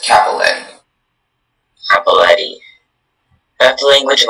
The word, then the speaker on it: cappelletti: The word is pronounced Cappelletti.